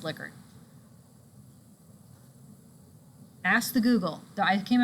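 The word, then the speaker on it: Likert: would call A A Liker scale it's actually pronounced liquor ask the Google I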